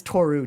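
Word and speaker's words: Toru: I met Tou there and he was hanging out with the English speakers. I was pronouncing it wrong. My bad. That's okay. That's okay. Um, it's Tou.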